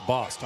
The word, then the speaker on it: Bost: Okay, so it's Boston. I apologize. I've been pronouncing his name. I thought it was Bose the whole time. Bost. Remember that?